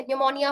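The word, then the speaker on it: pneumonia: जब भी शुरुआत में आएगा तो उसका हम उच्चारण नहीं करेंगे। जैसे कि ये क्या हो गया? साइकोलॉजी हो गया। ठीक है? निमोनिया हो गया, रिसीट हो गया।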